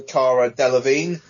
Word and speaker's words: Cara Delevingne: They are assembled by Viola Davis's Amanda Waller to combat a threat played by, I also forgot about her, Cara Delevingne, if that is how you pronounce her name.